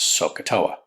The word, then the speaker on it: SOHCAHTOA: can remember this simple mnemonic device which we pronounce sohcahtoa it's not something that I've made up that's